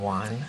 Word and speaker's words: Won: How can we have a Mexican name, Juan? It's not Mexican. It's spelled W-O-N. Oh, like you won.